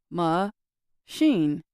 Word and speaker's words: machine: For example, the word machine has two parts, ma-sheen.